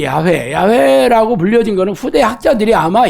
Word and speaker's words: 야훼: 그래서 우리가 지금은 그냥 야훼라고 부르지만 정확하게 야훼라고 불렸는 근거는 없습니다. 후대 학자들이 연구를 한 거예요. 그래서 유력한 발음이지만 절대적인 것은 아니죠. 그래서 우리가 여호와라고 많이 부르는 거는 야훼라는, YHWH, 요 말에다가 아도나이라는 모음을 결합해가지고 여호와라는 말이라고 불렀어요. 근데 야훼라는 말을 부른다는 게 너무 두렵기 때문에 주님이라는 모음, 아도나이라는 모음을 붙이다 보니까 이게 중세시대 여호와라는 말로 불리게 됐던 거예요.